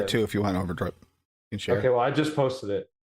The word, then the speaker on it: Overdrip: It's more Zero Drip. Zero drip. It is Overdrip. The zero is pronounced like an O, just for the record. It's a new age zero.